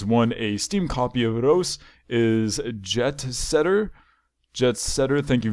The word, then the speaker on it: Reus: Now it's worth mentioning that in this poem, the game Reus is not actually pronounced as Reus, but you must pronounce it as Reus so it rhymes with choose, which is the only problem in this poem in my personal opinion.